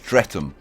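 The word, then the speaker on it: Streatham: Okay, this is pronounced stretum.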